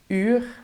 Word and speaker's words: uur: So the U sound from uur is basically an I, but then with rounded lips. I-u, u, uur.